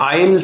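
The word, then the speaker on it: aisle: अगर आप देख पा रहे हैं तो इसे बोलते हैं आईल सीट। आईल सीट। ठीक है? आईल। ठीक है? एस लगा हुआ है। एस बोलता नहीं है। साइलेंट होता है।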